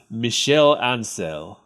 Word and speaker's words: Michel Ancel: I believe it's pronounced Michel Ancel. Okay. He's French.